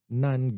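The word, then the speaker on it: NAND: get not and get not and get or we can pronounce as a nun gate it's a combination of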